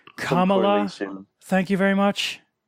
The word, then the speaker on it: Kamala: trying to make like it's pronounced come along soon thank you very